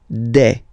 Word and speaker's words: des: Okay, and then the plural form, des. Alright, here, ES, you pronounce it like E.